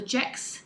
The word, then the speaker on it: Gex: So this is called the Gex cardigan. That's spelled G-E-X.